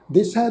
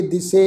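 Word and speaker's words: ਦਿਸੈ: गावै को जापै दिसै दूर। जापै पप्पे अखर ते दुलावां दी मात्रा का पाठ आ। जापै दिसै ससे अखर ते दुलावां दी मात्रा। इनू जापे दिसे इस ढंग नाल प्रनाउंस नहीं करना।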